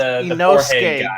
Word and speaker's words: Inosuke: Is that how you pronounce his name? It's Inosuke.